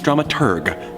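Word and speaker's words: dramaturg: The correct pronunciation is dramatur, the researcher of the plays and operas being put on.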